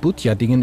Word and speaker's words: Butjadingen: Im Museum am Hafen von Fedderwarder Siel erklärt Frau Speckels, wie Butjadingen überhaupt erfunden wurde und wie es richtig ausgesprochen wird. Butjading sagen wir, Butjadingen außerhalb der Jade.